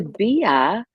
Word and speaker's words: Bia: And Bia, okay, I so think for Bia's name is pronounced B. Yeah. oh, there you go. Yeah. B. Okay. Right. BEA. That's Just true. so you know. Yeah. Okay. It's a British thing.